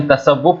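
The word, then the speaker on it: تصوف: इसी को बोलते हैं तवस्सुफ, तसव्वुफ, तसव्वुफ। ठीक है, तो इसका प्रोनाउंसिएशन तसव्वुफ होता है।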